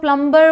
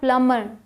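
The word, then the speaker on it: plumber: है ये डेट है प्लमर आधे से ज्यादा इंडिया कह सकते हैं 99 पर लोग प्लंबर बोलते हैं बट यह क्या है प्लमर प्लमर यहां आते हैं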